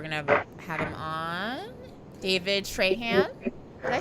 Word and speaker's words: Trahan: David Trahan. Did I say that? Did I mess it up? Always. Yeah, you said it right, I think. Yeah, David Trahan.